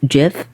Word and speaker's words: GIF: phone is nothing but gifts well it's supposed to be pronounced JF accordingly no I was just